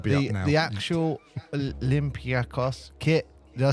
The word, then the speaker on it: Olympiacos: But the K is more like almost Paul, like a G.